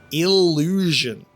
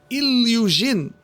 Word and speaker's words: Illusion: Illusion. My name is Illujin, and yes, I give autograph. He's mispronouncing his name.